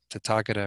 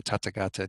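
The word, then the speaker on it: Tathāgata: goes on to say since the tatakata or tatakata different ways of pronouncing that term it means the one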